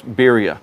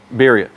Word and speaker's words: birria: how you say it i'm not very good at rolling my r's beeria spelled b-i-r-r-i-a beeria what is beria so